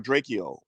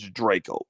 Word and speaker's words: Drakeo: checked it out and i pronounced it draco or drachio but it's draco draco the ruler my apologies